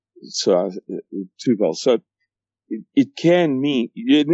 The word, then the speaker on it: Tubal: And then it goes on to, you can pronounce a B as a V in Hebrew. Tubal.